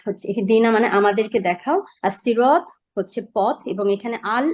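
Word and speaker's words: الصراط: সর্বনাম জামির আর হচ্ছে ইহদিনা মানে আমাদেরকে দেখাও আস সিরাত হচ্ছে পথ এবং এখানে আল এবং সিরাত সিরাত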